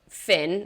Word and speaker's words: Fionn: And he was Finn, was his name, Fionn. Which I super pronounced Fion until about a week ago.